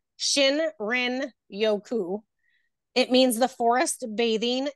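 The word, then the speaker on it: shinrin-yoku: as you like go into nature the oil pronouncing it I couldn't say it at first I made a funky name but it's Shin Rin Yoku it means the forest bathing it comes from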